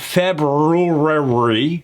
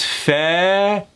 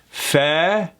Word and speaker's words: February: Well, in this particular case, that first R is not pronounced. It's not February, it's February. So let's break that down into 2 sounds. February.